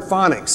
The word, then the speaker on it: phonics: Well, see, phonetically, and look at the word phonics. It's misspelled, isn't it? Phonics. It should be F-O, but it's a P-H.